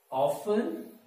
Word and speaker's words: often: Often or often. Often or often. तो मैं आप लोगों को बताऊं कि often भी सही है और often भी सही है.